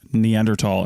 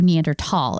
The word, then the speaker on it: Neanderthal: just a minute yes can we talk about the word neandertal and while we're pronouncing it that way of course because everybody goes back and forth even people in the business they go back and forth for two reasons one it's spelled deander Thal right okay so it's